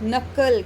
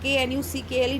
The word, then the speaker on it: knuckle: If any letter has no sound in the word, it is called silent letter, like knuckle, KNUCKLE knuckle. K is silent here and K is followed by N sound.